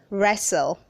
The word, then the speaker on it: wrestle: read 478 is pronounced wrestle say wrestle don't say the the t is silent don't say resto verse